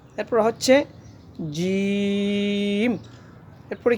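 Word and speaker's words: ج: সা এরপর হচ্ছে জিম।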